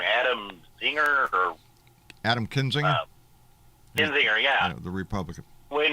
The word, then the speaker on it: Kinzinger: I always get his name wrong. Adam Zinger or Adam Kinzinger, Kinzinger, yeah.